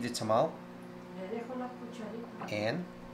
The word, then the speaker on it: tamal: And just to clarify, you've probably heard me say it wrong several times. In Costa Rica, it's called tamal. In Mexico, tamale. This is tamal.